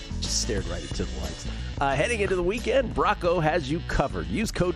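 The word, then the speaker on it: Bracco: B-R-A-C-C-O. Like Lorraine Brocco.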